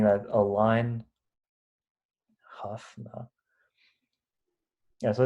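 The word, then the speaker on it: Hough: the hu space or the however Aron pronounces it Hugh you got it right yeah the Hugh space yeah the guy pronounces it like Huff yeah the Huff for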